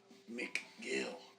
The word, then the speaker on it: McGill: H A R R I S McGill. Spelled like it sounds. Like a gill of a fish.